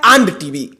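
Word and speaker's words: &TV: और इसके आगे टीवी हम अगर प्रोनाउंस कर द इसको तो होता है आंड टीवी उस पर एक पोस्ट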